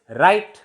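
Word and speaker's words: write: Next is राइट, राइट something, W is silent.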